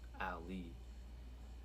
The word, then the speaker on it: Aely: So Ali, which is Ali is spelled ALEY, but for the third page, the third meaning is Ali, which is spelled AELY, which is my conscious mind, right?